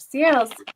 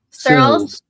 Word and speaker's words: Searles: me and we are joined today by Seals from Dead is not the end. You didn't you didn't research how to pronounce my name either.